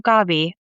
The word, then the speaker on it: Gabi: And so I have forever gone by my childhood name, Gabi, which is the Spanish pronunciation for Gabby.